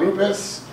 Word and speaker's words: Rupes: a little bit out Loomis and that's the correct pronunciation I've spent some time